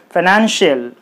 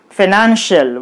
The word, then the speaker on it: financial: Then it will be financial. Financial, while pronouncing it should be financial. The syllable nan should be highlighted. It should be pronounced with higher force.